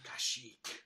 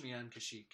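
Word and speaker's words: Kashyyyk: the spelling of planets and stuff like that kashik yeah exactly do spell it's got three y's three y's in a row so K so cash Cas kashik yeah yeah k y y y k okay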